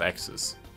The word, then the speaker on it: Xyz: Access Effect. Da steht zwar XYZ, aber ich bin mir sicher, es wird Access ausgesprochen oder vergleichbar.